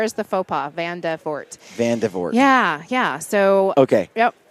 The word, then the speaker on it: Vandevoort: oh geez I married a Dutchman it's Van devort vort van van deror van devort no the r is the FAA van devort van devort yeah yeah so okay yep and that's Dutch